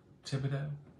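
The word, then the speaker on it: Thibodaux: don't know how we're gonna get that t-h-i-b-o-d-a-u-x Thibodeau I hit it I think it I probably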